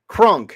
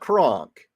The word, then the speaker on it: crunk: Crunk, not cronk, not cronk, crunk, as in getting crunked.